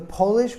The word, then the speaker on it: Polish: before the graduation ceremony polish is an adjective for a person from Poland now we emphasize the first syllable but it has a long o sound polish we also emphasize